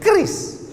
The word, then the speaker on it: QRIS: Cara bacanya gimana sebetulnya? Kris. Q-nya quick. Quick artinya cepat. R-nya response. Kris. Quick response code.